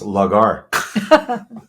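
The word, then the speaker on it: lagar: went a little deeper on lar um oh pronounced lar is a traditional shallow open toop vessel used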